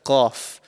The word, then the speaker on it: ق: So the letter qaf is actually pronounced from the farthest part of your mouth. So right at the back of your mouth, just before the throat.